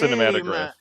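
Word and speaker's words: Cinématographe: what cine cinematograph or cinematograph that accent is there. I think um, the accent's on the middle e actually, not the end. It is pronounced cinematograph.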